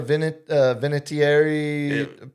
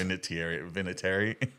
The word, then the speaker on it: Vinatieri: See, that's no, it's Vinatieri. I'm actually pronouncing it properly because I care about the Italian You're American adding culture.